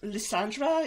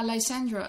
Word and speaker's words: Lysandra: had this problem with Leandra is that how I pronounce her name yeah lysandra lysandra Leandra lisandra l Sandra yeah I guess the first